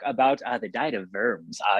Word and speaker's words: Worms: uh the diet of verbs uh you have to say verbs if you're really going to show off so it's spelled worms but they don't do that in german right yeah i guess they